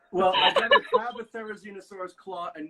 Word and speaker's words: Therizinosaurus: You know, I'm sort of leaning more and more toward Therizinosaurus.